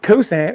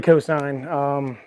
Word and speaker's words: cosine: So when I say cosant, it's really cosine. But anyway, that's really nothing. But anyway, he did call me out and he was right. So the cosine chart.